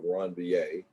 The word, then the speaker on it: Ranvier: It's pronounced that way, node of Ranvier.